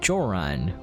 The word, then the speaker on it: Joran: Behold, I, Joran, which rhymes with moron, the greatest hero who has ever lived in Gedonia.